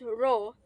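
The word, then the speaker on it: rho: it is represented by the symbol p or pronounced as row and is denoted by column per Cub meter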